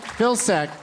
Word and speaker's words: Vilcsek: Vilcsek.